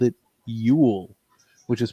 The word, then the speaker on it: Yule: straight they called it yule which is pronounced the same as the word for christmas in norway today you spell like like